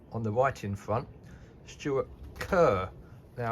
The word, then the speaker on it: Kerr: Um, I've I'm sitting down with my exartner in crime on the writing front, Stuart Kerr. Now, K ER, it's pronounced.